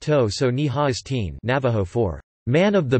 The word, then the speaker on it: Totsani Hastian: There was an important Navajo leader named Totsani Hastian, pronounced To-so-ni-ha-is-teen, Navajo for Man of the Big Water Clan.